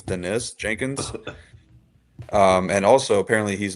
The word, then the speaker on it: Dennis: I was thinking through the Dennis Jenkins, which I guess apparently it's pronounced Denis. Yeah, I think it's Denis Jenkins.